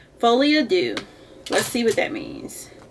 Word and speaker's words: Folie à Deux: pronounce pronunciation of it so fly Adu is French Folly ad do let's see what that